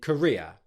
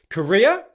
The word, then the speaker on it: Korea: Again, because it's a diphthong, you put the stress on the primary part of that diphthong, which is why it sounds so similar to the country Korea. So Korea, Korea.